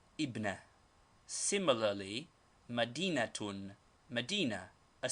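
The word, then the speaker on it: ابنة: tear thus ibnetune daughter but in speaking or in newspaper reading this tanwin is always dropped as it is only a case ending and the word is pronounced ibna similarly Madina tune Medina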